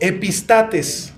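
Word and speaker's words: ἐπιστάτα: esta palabra maestro viene del griego epistat epistat así como se escucha epst acento en la a y significa comandante los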